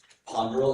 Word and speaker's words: ponderal: Ponderl is the only pronunciation I'm giving here.